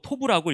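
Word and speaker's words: טוֹב: 이렇게 좋았더라라고 말씀하시는 히브리어 원어는 바로 토부라고 읽습니다.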